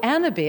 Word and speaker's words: Annabis: bit about anna b spelled like cannabis without the c but we pronounce it the fancy french way of course you're the coco chanel of cannabis right so annabee i'm the ceo of